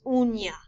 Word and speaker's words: uña: U-N-A is pronounced una. U-N with a tilde A is uña.